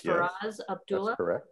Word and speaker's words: Faraz: book and her operative help me make sure i'm pronouncing this right for oz right it's faraz and they're working out